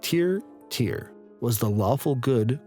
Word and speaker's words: Tyr: bit from the wiki tyr pronounced tear tear was the lawful